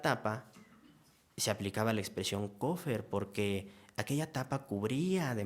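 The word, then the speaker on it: כֹּפֶר: tomar en cuenta la expresión hebrea que se pronuncia cofer y que se traduce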